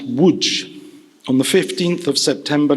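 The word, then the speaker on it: Łódź: about him my father was born in Lodge pronounced Wood on the 15th of September 1925 he was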